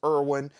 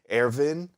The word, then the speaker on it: Erwin: pronounce it which is erwin but it does deserve a germanic pronunciation as somebody pointed out and if you listen to the pronunciation in the show it is more like arvin uh so airvin speaks to the cadets